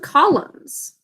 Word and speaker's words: column: Sound it out with me. Column, 2 syllables. What are the sounds in the first syllable? K, A, O, 3 sounds. Basic code. Next syllable, 2 sounds. Now we've got a silent letter at the end of this. Does anybody know what it is? We say column, but we've got a silent phonogram at the very end.